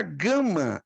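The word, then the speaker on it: γάμμα: perfeito a letra Gama ela tem dois sons hum preste atenção isso aqui pode pegar ela pode ter o som de G ó ga ou gua ga gua como por exemplo gato e Uruguai ou caro como está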